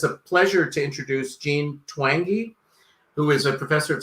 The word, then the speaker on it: Twenge: pronounce your last name it's pronounced twangy like twangy guitar twangy great okay so i'm